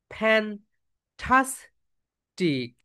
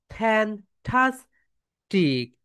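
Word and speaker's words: fantastic: এখন বলো ফ্যান্টাস্টিক। ফ্যান্টাস্টিক। ফ্যান। ফ্যান। উপরের দাঁত নিচের ঠোঁটের সঙ্গে টাচ করো। ফ্যান্টাস্টিক।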